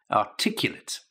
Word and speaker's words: articulate: Number one, articulate, okay? Articulate. Now, there is a verb to articulate, and when we're talking about the pronunciation, articulate is the adjective, a different pronunciation, different stress, okay?